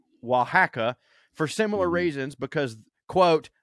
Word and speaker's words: Oaxaca: She also has a problem with the Mexican state of Oaxaca, pronounced Oaxaca, for similar reasons because, quote, they are basically Guatemalans.